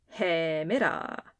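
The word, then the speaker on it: ἡμέρα: name is ETA ETA note the rough breathing Mark at the start of hey Mira hey Mira starts with the sound but that's not because this letter makes a h sound just the rough breathing mark on top of it makes the sound and the letter e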